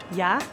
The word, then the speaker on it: Yahweh: Quando pronunciado sem vogais, o nome de Deus soa exatamente como uma respiração. Yahweh.